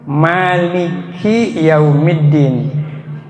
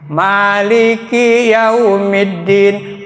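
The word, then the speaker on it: مالك: Karena salah ngucapin Maliki tinya dipanjangin.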